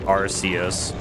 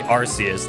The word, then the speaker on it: Arceus: Pronounce it like Arceus. Arceus. I know that there's a debate between Arceus and Arceus.